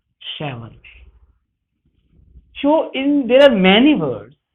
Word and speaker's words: Chevrolet: It will be called Chevrolet. So, there are many words which are to be pronunciated accurately.